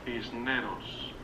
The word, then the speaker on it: Cisneros: Cisneros. Well, I don't have that accent. So you pronounce the S, basically. Cisneros. I can't roll my R's.